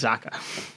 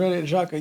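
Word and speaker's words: Xhaka: see Saka remember the player from Switzerland granite Jaa okay Jaa I I pronounce Jaca it's gr Jaca yeah he yeah the whole Squad that won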